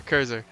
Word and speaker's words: Kurzer: Kurzer, how did you say you pronounce it? Kurzer? Yeah, Yeah. Kurzer.